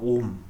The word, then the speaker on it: ohm: 숫자 0하고 헷갈리니까 숫자 0과 구별하기 위해서 이렇게 오메가라고 쓰고 읽을 때는 오음이라고 읽습니다. 오음.